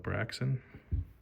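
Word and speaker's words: Braixen: another Blazin Vmax and the braxon that's how you say it braon braxon braxon and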